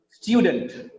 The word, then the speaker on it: student: That is why it is not dent, it is dunt. It becomes dunt. We don't say student. Because of the stress on the first syllable, stew, the next vowel sound becomes weak.